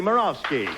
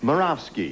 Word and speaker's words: Morowski: Keith Collins and Morowski. Well, want to find out a little bit about each of you. We'll begin with you. Well, you pronounce my name right. That's fantastic. Moravski.